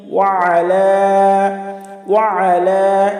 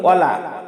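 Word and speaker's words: وَعَلَى: এই যে এখানেও আমরা বলি ওয়ালা। বললে আমাদের ভুল হবে, কারণ আইনের উচ্চারণ করতে হবে। এখানে যদি আমরা লাম বলি তাহলে আমাদের ভুল হবে। ওয়া আলা, লামতে তিন আলিফ টান আছে।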